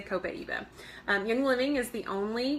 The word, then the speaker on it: Copaiba: Let's see, Copaiba. Okay, so Copaiba, I think, Copaiba. This one is debated on how you pronounce it. I say Copaiba.